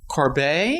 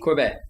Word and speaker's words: Corbet: correction here because uh I found out that Brady Corb does pronounce his own name that way so even though he's from Arizona uh that's how it's pronounced thank you to Reddit user rayj uh for this clip it's Brady Corbett Corb Corb Corb the French pronunciation yes anyway this film